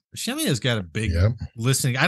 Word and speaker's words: Shemya: Shemya's got a big listening. I don't know what kind of ground radar they have out there. It is Shemya, isn't that how you pronounce it?